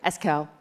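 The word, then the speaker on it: Esquel: Eskel.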